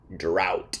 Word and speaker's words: drought: one isn't always true the word drought ends with o-u-g-h-t but it sounds like out drought is a long time